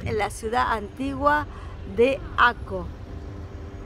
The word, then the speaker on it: Akko: la ciudad antigua de aco aquí lo conoce como ake acke bueno cada uno lo pronuncia a su manera pero en hebreo y acá en Israel se lo conoce como aco bueno van a poder